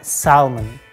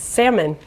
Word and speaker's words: salmon: for your general knowledge native speakers dropped the L letter and pronounce it like Simon Simon not salmon it's salmon the next one is